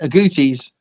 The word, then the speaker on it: agouti: Because I think agoutis rhymes with cuties, so they are cute as well.